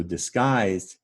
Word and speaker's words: disguise: just a moment but it's the i sound you hear in disguise so the middle syllable of disguise is actually guys and down below and